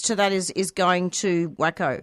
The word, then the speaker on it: WACA: And so the proceeds to that is going to WACO, right? To pay their fees? Waca, yeah. WACO, is that how you pronounce it?